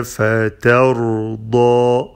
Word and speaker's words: فترضى: فتى، فتى، ف and تاء are light، فتى and then را and ضاد are heavy.